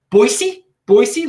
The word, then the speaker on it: Boise: awesome Boise people out Boise Boise look I'm pronouncing it correctly without my Baltimore accent you like that yeah